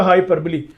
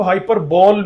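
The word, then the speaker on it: hyperbole: का होना चाहिए, और ये लफ्ज ध्यान से सुनिएगा हाइपरबली, ये वहां आपको हाइपर बॉल मिलेगा, शायद आपने पढ़ा भी ऐसे ही हो, आई डोंट नो। और ठीक हो गया, मगर इसकी जो करेक्ट प्रोनाउंसिएशन है वो हाइपरबली है।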